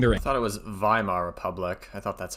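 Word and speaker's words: Weimar: So you have one set of youth channeling their I thought it was Vhimma Republic. I thought that's how you pronounce it cuz uh W's are pronounced as V's in German anger into nationalist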